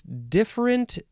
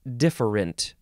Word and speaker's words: different: this episode is different how many ways you can say this different different two syllables or three syllables d-i-f-f-e-r-e-n-t first form adjective